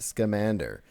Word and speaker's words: Scamander: There's a casting call out for teenaged Dumbledore, Grindelwald, and Newt Scamander. You pronounced it correctly.